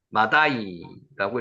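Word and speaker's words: מָדַי: 자, 세 번째가 마대입니다. 마다이라고 있습니다. 마다이 한번 해보세요.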